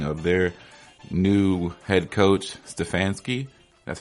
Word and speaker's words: Stefanski: about Cleveland's hiring of their new head coach Stefanski that's how you pronounce it yeah so now we're gonna get